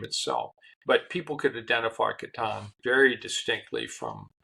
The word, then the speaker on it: Catan: Do you have the T-shirt that says it's pronounced Catan, C-A-T-A-N.